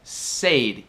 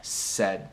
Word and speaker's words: said: To say, mas quando fica no passado como particípio é said. Para se lembrar disso, you just have to say say rhymes with hey said rhymes with head.